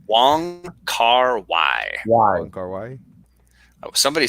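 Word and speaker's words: Wong Kar-wai: Wong Kar Wai.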